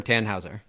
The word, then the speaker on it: Tannhäuser: Why did you name your firm Tannhäuser? Did I pronounce that correctly? Yes. So yeah, it's like the like the opera or like the fairy tale.